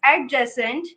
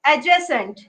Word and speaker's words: adjacent: If we write it it's adjacent. If we pronounce it, it's adjacent. D is silent there.